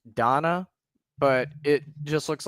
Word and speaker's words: dana: I'm I'm assuming it's pronounced Donna, but it just looks like some lady named Dana. D A N A. Yeah, it's Donna or generosity and the belief that the body